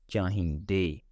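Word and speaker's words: ਚਾਹੀਂਦੇ: Masculine singular is chahinda, da sound at the end, and masculine plural is chahinde, they sound at the end, and feminine singular is chahindi, the sound at the end, with the feminine plural chahindiya, alright?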